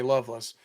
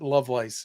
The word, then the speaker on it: Lovelace: My family pronounces it Lovelace. Yeah, just like you love and lace.